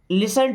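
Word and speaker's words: listen: और बता पाएंगे देन लिसन टू मी। देखिए यहां पर टी साइलेंट है।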